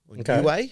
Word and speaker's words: Niue: Niue, how you pronounce it.